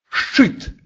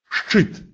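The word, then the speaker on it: szczyt: «ц», «з» и произносится твердо «ш», «щ», «щ», «щит», «щит», «вершина горы», «щупак», «щупак», «щука», «щипце», «щипце», «щипцы». После этого твердого согласного никогда не может идти звук «и». Всегда произносится твердо.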